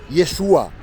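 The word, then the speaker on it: ישוע: Lo quieren llamar en hebreo Yeshua, con acento en la A, porque estoy seguro de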